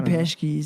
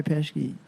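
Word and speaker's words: Pesci: Green School calls me pesy they think I'm I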